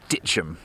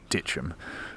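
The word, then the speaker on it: Dittisham: had it on good authority that it's actually pronounced Ditchum. So in the hope that I don't offend any locals, I'm going to refer to it from this point forth as Ditchum.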